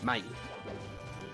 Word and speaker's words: Mahie: Is it Mahie? I don't know. I feel like chat's trolled me before into like pronouncing things wrong. Yes, you're 100%. Okay, I'll take your word for it. Mahie. I know him personally.